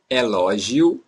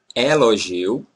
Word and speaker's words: elogio: Elogio, elogio, elogio, or elogio. Some Brazilians say elogio, open, elogio, and some say elogio, close. Elogio. So, it's up to you. You can say elogio or elogio.